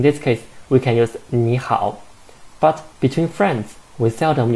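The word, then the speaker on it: 你好: so it is because if there are two third towns in the syllable the first third in the first third tone should be chanted into the second tongue so actually i should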